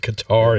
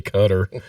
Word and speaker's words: Qatar: we don't have to pretend it's called It's pronounced cutter anymore yeah Qatar yeah it's like oh no oh you're calling it guitar it's really cutter yeah what are we saving for the for